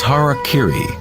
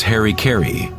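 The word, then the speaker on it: hara-kiri: one form of ritual suicide or seppuku was har Kiri was often mispronounced as Harry Keri it means to impale one's Hara thereby cutting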